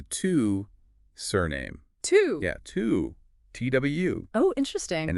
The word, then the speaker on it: Twu: dive into the two surname two yeah two t w oh interesting and it's pronounced two two okay I've definitely heard of